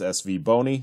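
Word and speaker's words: SVBONY: sent me back this soundbite on how to pronounce SV boney so those are you who are looking and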